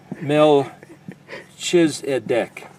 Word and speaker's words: Melchizedek: get in that order mell choose at deck this is where they take the letter Koff and they pronounce it as a CH but that's a no